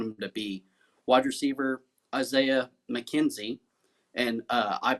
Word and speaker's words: Isaiah McKenzie: Wide receiver Isaiah McKenzie, and I pronounced that right because last week I got